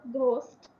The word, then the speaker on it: ghost: तो f के तौर पे ये प्रोनाउंस होता है, whereas at the beginning of ghost it has a different pronunciation.